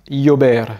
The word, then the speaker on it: llover: Le double L, lui, il va se prononcer un peu comme un Y, c'est un espèce de Y. Cahier, cahier, rue, lleno, lleno, plein, llover, llover, pleuvoir, pollo, poulet, llorar, pleurer, billete, billet,